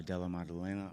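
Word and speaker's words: Della Maddalena: Uh I think um uh Dela Madena I I don't even know how to say his name.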